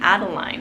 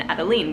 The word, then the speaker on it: Adeline: probably pronounce her name adeline and i was like i know but i really love the pronunciation adeline which is more french and um so anyways